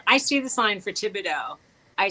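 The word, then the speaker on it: Thibodaux: when when you I see the sign for Tibido I say so you said how do you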